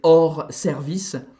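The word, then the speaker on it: hors service: of order horse service because in French out of order is or service and or is spelled h o r s without the e all right but they've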